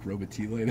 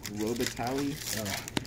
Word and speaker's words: Robitaille: in it I think my wife pronounced Robitaille like Robert E later first up Robitaille come on hunter breaker still do that Luc Robitaille I had a distributor